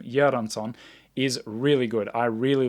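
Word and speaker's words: Ludwig Göransson: thoughts on film music but this score by ludwig yaranson and yes that is how you say his name yeranson is really good i really liked a lot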